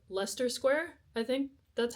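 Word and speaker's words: Leicester Square: We got on the train, went to like Lester Square. I think that's how the man pronounced it. It's not spelled like that though.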